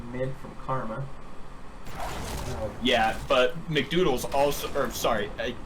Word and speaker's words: McDoodles: Yeah, but Mcdoodles also, or sorry, I am told it's pronounced McDoodles, had to teleport as well.